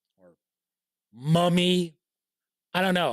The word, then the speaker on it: Mumy: Bruce Boxleitner and Bill Mumy or Mummy. I don't know. I hear people pronounce his name 2 different ways. Bill Mummy, Billy Mummy, right? And then Moomy.